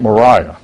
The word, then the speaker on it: Mariah: addressed to this second Mariah who's named the family pronounced with a long i frank dyer served from